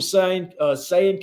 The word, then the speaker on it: Sayin: Next year you got Julian Sayin coming in, I believe is how you say his last name.